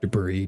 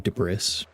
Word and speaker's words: debris: Sorry, I had to laugh there because I had to I ironically say the word debris de brris even though I know it's pronounced debris.